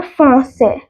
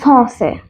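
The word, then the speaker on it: français: सबसे पहला है फ्रेंच, जो कि जिसको लिखते हैं फ्रांसे, ले फ्रांसे।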